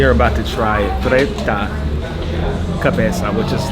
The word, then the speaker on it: cabeza: So yeah, it's cabeza.